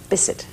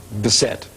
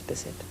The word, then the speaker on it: Bisset: How do you say your name? Bisset. It is Bisset. Mm-hmm. Yes. This is for all time. No Jacqueline Bisset. Or Bisset. Or Bisset. No, it's Bisset.